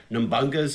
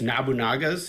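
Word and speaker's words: Nobunaga: see how, as kids, we pronounced it as, let me see if I know, Nambunga's Ambition, but it's Nabunaga's Ambition. So, just a rich history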